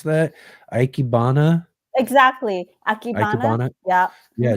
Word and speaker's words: Ikebana: paradise are often used in how do you pronounce that? Ikebana?